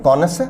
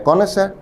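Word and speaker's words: connoisseur: डी बेहतरीन शब्द है कोनसर शब्द का उच्चारण है कोनसर विद्यार्थी ध्यान दें सही प्रोनंसिएशन है कोनसर एन और एस दोनों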